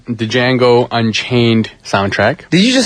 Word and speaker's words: Django: And uh he's also known for the song Freedom from the J the Django Unchained soundtrack. Did you just say Django? Django. It's Jango. The D is silent.